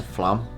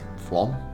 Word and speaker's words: Flåm: Um, so when you get to Flam Flam Flam Yeah, I keep pronouncing it wrong, but the um there's not much in Flam itself really, is there?